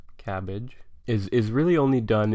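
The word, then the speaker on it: CABG: coronary artery bypass grafts or cabbage as the acronym sort of allows us to pronounce it cabbage is is really only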